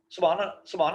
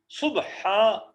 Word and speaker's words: سبحان: یہ نا، یہ سبحانہ نہیں پڑھنا جی، صبح سین پیش بے، صبحان ہا لمبا ذرا کرنا، سبحان ربی العظیم.